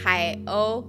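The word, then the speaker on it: 海鸥: The name of the camera is pronounced Hai-O, which is Seagull.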